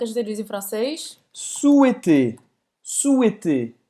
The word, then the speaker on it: souhaiter: souhaiter. Souhaiter. O verbo desejar. Souhaiter. Você não vai pronunciar esse H no meio. Souhaiter.